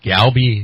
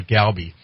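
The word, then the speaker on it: galbi: had this this galby meat marinated it was a short rib and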